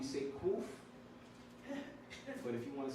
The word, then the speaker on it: Kuf: Kuf. Some people might put Q-U-O-O-F. It really doesn't matter. Like Akumlea, he writes it with a A-Q-U.